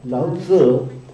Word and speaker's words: Lao Tzu: Si pronuncia così, Lao Tzu, questo antico saggio cinese che diceva che tutti al mondo sanno che il bello è bello e perciò conoscono il brutto.